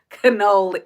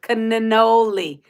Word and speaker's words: cannoli: You have to pronounce the N's in cannoli. Cannoli.